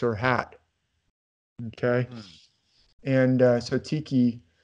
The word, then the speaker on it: tiki: hat okay and so Tiki or tikki if you're from New Zealand you actually pronounce it tikki usually in the United